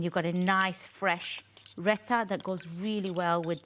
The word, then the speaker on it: raita: you have this lovely raita dish there. Oh, put that back in. Just get the pronunciation. Is it raita or rec? Raita. Raita. Oh, raita.